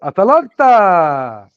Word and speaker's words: Atalanta: Atalanta. That's how you need to say it. Atalanta! I told you guys 2 hours ago. 2 hours before, I told you guys, Atalanta, we're gonna get them.